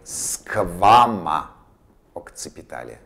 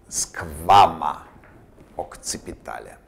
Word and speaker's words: squama occipitale: Squama occipitale. Be attentive to this pronunciation. Squama occipitale.